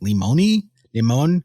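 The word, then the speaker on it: Lemoine: I believe his name is pronounced Limon.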